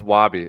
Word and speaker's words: Wabby: Wait, how do you say Wabby? Yeah, it's Wabby. It's WOBBY.